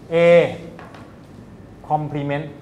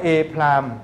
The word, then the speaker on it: A complement: เรา ไม่ อ่าน ว่า a prim เรา ไม่ อ่าน ว่า a คำ ว่า prim นะ คำ ว่า prim เนี่ย เรา ใช้ อ่าน พวก อนุพันธ์ นะ ถ้า เรียน ม